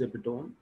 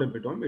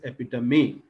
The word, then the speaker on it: epitome: So pronunciation is epitome, not epitome, it is epitome.